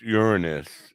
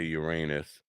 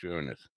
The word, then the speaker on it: Uranus: i am back anyways it's really pronounced uranus even though we like to say uranus it's pronounced uranus so i'm always changing